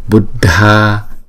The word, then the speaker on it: buddha: chỗ một á là chữ d chữ d đứng một mình thì chúng ta đọc là the nhưng mà chữ d và chữ H ghép lại chúng ta đọc là đ bha Nam chữ a có dấu vịch ngay trên đầu thì chúng ta phải đọc thời lượng nó kéo dài hai nhịp so với chữ a bình thường thấy không buddha Nam không phải là